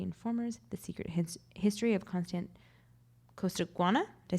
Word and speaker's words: Costaguana: award-winning Reputations, The Informers, The Secret History of Costaguana.